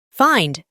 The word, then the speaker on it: find: Lo pronunciamos con una a antes de i, find.